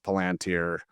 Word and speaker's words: Palantir: We still get mispronunciations of Palantir, so it's Palantir, things like that.